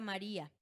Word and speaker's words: María: Se está juntando quién? La i que es débil y la a que es fuerte. ¿Cómo se pronuncia esa palabra? María a Sí. ¿Qué dice la regla? Sí, la vocal débil. Ahí recae mi sílaba tónica, entonces, ¿qué?